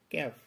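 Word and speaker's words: calf: কয়েকটি শব্দ তুলে ধরব যেই শব্দগুলিতে এল বর্ণটি সাইলেন্ট হিসেবে ব্যবহৃত হয়েছে। চলুন দেখে নেওয়া যাক। প্রথম যে শব্দটি আছে বাম, যার অর্থ হলো সুগন্ধ পদার্থ। এরপরে যে শব্দটি আছে ক্যাফ, ক্যাফ অর্থ বাছুর।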